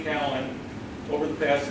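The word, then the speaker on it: Kallen: this character, Horace Callan, got to learn to pronounce it correctly, Callan.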